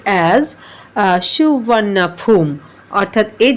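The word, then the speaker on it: สุวรรณภูมิ: এটা পাস্ট টেন্সে আছে দ নেম সুবর্ণভূমি ইজ প্রোনাউন্সড এজ সুবর্ণাফুম অর্থাৎ এই যে সুবর্ণভূমি নামটা এটা সুবর্ণাফুম নামে উচ্চারিত য় প্রনাউন্স মানে হচ্ছে উচ্চারিত হওয়া।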